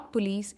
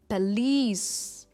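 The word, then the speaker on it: police: इट्स नॉट पुलिस, इट इज़ पुलिस. पुलिस, और जो lease है इस पे इसका स्ट्रेस है. इट्स पुलिस.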